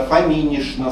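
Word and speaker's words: Фоминична: Ильинишна, Никитишна, Фоминишна, Савишна обязательно с ша-н произносится. Пишутся с чн, произносятся с шн.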